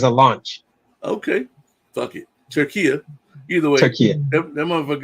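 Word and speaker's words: Türkiye: It's not Turkey. It's pronounced different. They asked to be pronounced differently. I was waiting to see if you caught on to it. I didn't hear that part, and it's spelled Turkey. So unless they spelling it different, they are spelling it different. It's like Turkinia. Right. Oh, okay. What is it? Turkiya. That's the new pronunciation.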